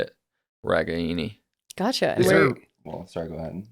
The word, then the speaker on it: Ragaini: So the correct way to pronounce it is Ragaini. Mm-hmm. So Ragaini.